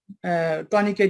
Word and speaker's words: tourniquet: এটা বানানটা হচ্ছে TOURNIQUET, কিন্তু এটাকে আসলে উচ্চারণ হচ্ছে টুনিকেট।